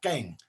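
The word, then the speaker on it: qeej: passing in mong but the way you pronounce that word the q-e-e-j is kang um so this instrument that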